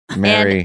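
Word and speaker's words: marry: that thanks yeah okay how do you pronounce the words okay m a r y Mary m e r r y Mary Mary M a r r y Mary wait what's that last word they sound are they're all all the same right yeah it's Mary Mary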